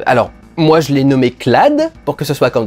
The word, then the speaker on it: Cloud: dans les années 90, tout le monde l'aurait appelé Clou. Donc Clad, par rapport à Cloud, ça me paraît pas si mal au final. Puis si on avait gardé la prononciation japonaise, ça ferait Clodo, alors bon...